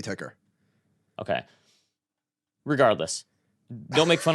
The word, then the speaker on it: ticker: tker tker well it's it's capital T capital k e r um now I'm sorry that has to be ticker okay regardless don't make